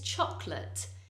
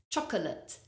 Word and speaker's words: chocolate: February February well done another word that people usually give too many syllables to is chocolate so a common mistake would be to say say chocolate chocolate but listen to me chocolate chocolate we only pronounce two syllables chocolate and notice how the final vowel sound in that word it's not chocolate it's chocolate it's a weak sound uh chocolate another word